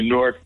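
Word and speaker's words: Newark: in New Jersey so say norc I don't have to qualify it plus people in New Jersey know that norc is a one syllable word not a two- syllable word yeah like fork or cork uh and uh in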